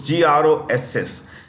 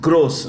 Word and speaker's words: gross: it is India's largest General Insurance company based on Gross premium collections okay gross gross it's pronounced gross not gross gross okay now this is New